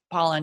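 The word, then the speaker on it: Pollan: that um Michael Poland is it pollen or Poland I was want to say his name wrong but pollen yeah from the food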